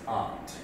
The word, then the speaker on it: Aunt: For a proud Chicagoan like me, this poem is called Aunt. For a proud Massachusettsian like my wife, it's Aunt.